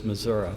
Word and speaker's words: Missouri: There's some hosers that live in big cities that don't know how to pronounce it, but it's Missoura for the the people are native.